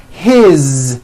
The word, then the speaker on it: his: good you hear that is his same thing it also has a voiced z ending his mom is mary